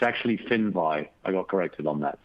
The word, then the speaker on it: Finvi: not great for an editor so it's actually fin by I got corrected on that so I just